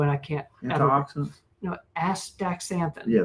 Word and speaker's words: astaxanthin: on the show and I can't you know astaxanthin. Yeah, that's a tough one. That's that's how you pronounce it.